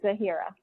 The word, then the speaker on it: Zahira: i'll be zahira welcome cassandra also goes by zahira am i saying it right yes you got it okay awesome and then